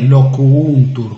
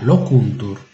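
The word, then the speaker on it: loquuntur: lo cuntur e parlano notare la pronuncia di locuntur Noè non è Loco untur con due u è solo una locuntor Antonio che revisia in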